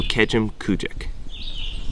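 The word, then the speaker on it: Kejimkujik: Start with Kejim and then finish with Kujik. So Kejim Kujik. It's pretty. It's you know, it's not Kejim Kujik.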